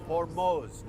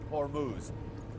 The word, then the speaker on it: Hormuz: By the way, that's the correct pronunciation. It's Hormos, not Hormuz.